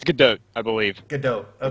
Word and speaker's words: Gadot: It's Godot, I believe. Godot. Okay. I believe you pronounce it T.